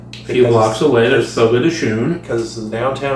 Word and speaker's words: Fogo de Chão: A few blocks away, there's Fogo de Chão.